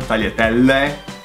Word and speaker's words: tagliatelle: GL is L. So it's pronounced L. So taglia. And then there's a double L. Tagliatelle. and there's a final E.